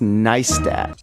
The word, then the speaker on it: Neistat: It's pronounced Neistat.